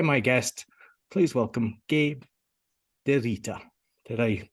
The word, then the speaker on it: DeRita: Today, my guest, please welcome Gabe DeRita. Did I pronounce the surname correctly?